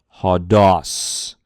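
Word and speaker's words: ὁδός: So we break the syllable as quickly as possible if we can. So it's ha, ha-dos, ha-dos, the word for way or road or path.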